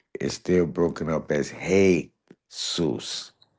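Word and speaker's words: Jesús: Even by it being a Spanish word is still broken up as heyus, not um but the J the J in Spanish is pronounced with a H sound.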